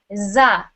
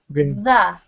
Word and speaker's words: the: you were pronouncing it, you were saying za, like a Z, right? We want to hear the, right?